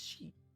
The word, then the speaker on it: し: This is Shi, or Shi. It's a consonant followed by a vowel and makes up a single syllable. You pronounce this as Shi. Yeah, like the pronoun.